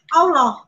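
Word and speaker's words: الله: Arabnya tahu enggak Halo alif lam lam ha Alif bacanya ulang hak Allah Allah Alif mau aku Islam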